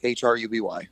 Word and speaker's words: Hruby: The silent H throws a lot of people off. I grew up and I would always have to say it's Ruby Hruby, and I would have to just spell it out for people.